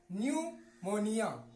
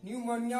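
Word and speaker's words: pneumonia: क्या है प है तो यह भी प पढ़ा नहीं जाएगा य इस प का भी क्या होगा उच्चारण नहीं होगा न्यूमोनिया न्यूमोनिया बोलते है न्यूमोनिया हा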